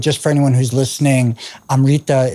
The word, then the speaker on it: Amrta: But just for anyone who's listening, Amrta is spelled Amrta. So Finca Amrta there's no I, even though you might imagine that there is when hearing it.